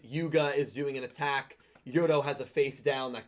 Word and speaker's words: Yuro: I don't think letting Yuri win Yuro. Yuro, yeah. I'll say his name right for this.